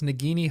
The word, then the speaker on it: Nagini: weird names eer that's actually fascinating so it's nagini harg not Nini we um me and Danny